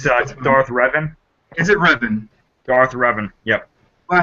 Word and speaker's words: Revan: Darth Revan.